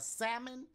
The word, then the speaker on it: salmon: people say something but I think it's a silent L cuz I don't take